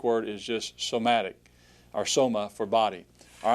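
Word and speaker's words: σῶμα: All right, the next word, soma. Notice the stress is on the omega.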